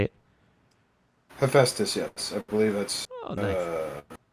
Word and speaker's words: Hephaestus: my end here say how you say it hephaestus yes i believe that's i must say that's